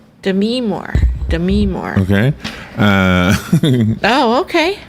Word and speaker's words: Demi Moore: I am mispronouncing her name when I say Demi Moore. Really? It's Demi Moore. Demi Moore. Demi Moore. Did you know that? I didn't know that. I thought it was Demi Moore.